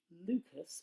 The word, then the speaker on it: Lucas: one two three five the lucas or luca numbers pronunciation depending on how sassy you feel are very similar